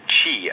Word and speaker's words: chi: key or key or can be pronounced Chi as in cha X is also the